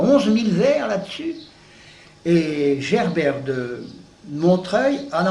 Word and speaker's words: Gerbert: Manessier, un certain Manessier, et puis alors un certain Gerbert de Montreuil, comme ça se prononce Gerbert, le prénom, et de Montreuil.